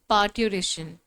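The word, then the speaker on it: parturition: Also correct next topic पार्टेशन इसमें are silent है। Okay? पार्ट्यूरेशन।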